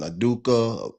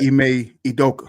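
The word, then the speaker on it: Ime Udoka: I'd always say his name wrong. Dude that was at Boston, the coach at Boston, Aduka. He coached in Houston right now. Ime Idoka.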